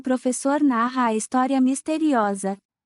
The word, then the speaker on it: História: The word story is História. História. It's like history, but the H isn't pronounced.